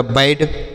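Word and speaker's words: bad: रूप में करते हैं बी एडी तो बी से लिखेंगे ब और ए का उच्चारण करेंगे य की मात्रा के रूप में और डी से लिखेंगे ड तो यह हो गया बैड क्या हो गया बैड हो गया बी ए डी बैड next देखते हैं सी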